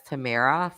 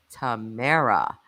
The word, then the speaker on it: Tamra: Listen, Tamra, Cynthia, I pronounced her name as Tamara for months. She never corrected me. And then one day I get an email for her and and she's like, Jess, like, my name is pronounced Tamara.